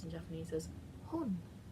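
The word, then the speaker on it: 本: We're gonna go with book, and in this case book is pronounced in Japanese as hon. Hon kind of sounds like hun, but with an O and not a U.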